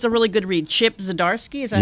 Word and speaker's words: Zdarsky: Chip Zdarsky, is that how you Yep, pronounce that's his name?